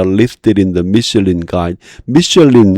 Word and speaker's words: Michelin: 미슐린, 이거 이제 우리 보통 미슐랭이라고 하나? 그 프랑스 발음이고요. 영어 발음 미슐린.